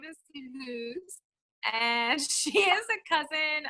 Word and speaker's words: Luz: Welcome, Luz. We're so glad you're here. Luz. I keep saying it wrong. I keep wanting to say it with a Z, but it's like an S, right? Luz. Okay.